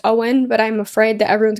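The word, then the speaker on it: Eoin: E O I N, which is apparently to my research pronounced Owen.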